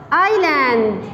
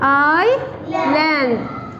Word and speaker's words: island: Now, this is island. Island. I land. Look, don't pronounce S.